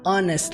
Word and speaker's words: honest: com H, o primeiro som dela é som de vogal, por isso que nós usamos an e não a, para falar a honest life. Não, nós falamos an honest life e acaba juntando na pronúncia, né?